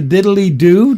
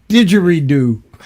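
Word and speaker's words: didgeridoo: The didd diddly do. Did I say it right? The didd diddly do is now digy do. Digy do. Oh yeah. Digery do.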